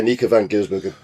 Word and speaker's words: Anneke van Giersbergen: to pass you to Graham because I can't pronounce her name. So I'm going to say Anneke van Giersbergen.